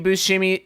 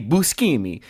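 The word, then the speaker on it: Buscemi: I don't know if Steve Bushimi I don't know if Steve I sorry I got to do the correct Italian pronunciation. I don't know if Steve Busimi is in Trolls but I do know that Trolls is him.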